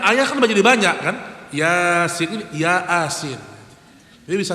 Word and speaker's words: Yasin: Yang benar apa? Yasin. Itu yang benar. Karena dia baca Latin, dia baca apa? Ya asin. Nah, itu dia baca ya asin jadinya. Karena ayah kan jadi banyak kan Yasin ini ya asin jadi